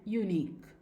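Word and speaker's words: unique: Next, when the QUE spelling at the end of the word, it is pronounced as only a क sound. और जब किसी भी word के आखिर में QUE आता है तो उसको भी प्रोनाउंस किया जाता है क की तरह, एज इन एंटीक एंड यूनिक.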